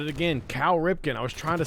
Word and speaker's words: Cal Ripken: still laughing at myself calling him Carl I don't know why I put an r in there Carl I almost said it again Cal Ripken I was trying to